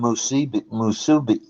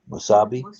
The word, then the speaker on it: musubi: That's what you get with the spam musubi. How do you say that? Musabi?